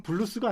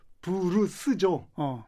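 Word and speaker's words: blues: 근데 그거는 블루스가 아니죠. 정확히 말하면은 브루스죠. 그게 왜 그러냐면 일본 말이거든요. 일본 말이 이 받침이 없잖아요. 네. 블루스란 거를 브루스라고 발음하는 것을 우리나라가 뭐 청춘 블루스,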